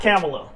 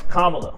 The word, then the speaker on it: Kamala: malamala people like malamala it's not camela it's Kamala K La K La